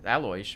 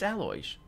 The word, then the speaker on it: Aloysius: It's better, Alois, but not... No, actually, she pronounced it like the other ones. It's Aloysius.